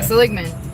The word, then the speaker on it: Seligman: We went to Seligman. Is that how you say it? Seligman. Yeah, Seligman.